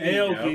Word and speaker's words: Steve Aoki: So like the celebrity owners in this consist of like Steve Aoki. I think I said that right. Steve Yeah. Aoki. Aoki.